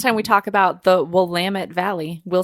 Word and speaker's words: Willamette: the college are all willamette willamette willamette and she points out rhymes with damn it and you know that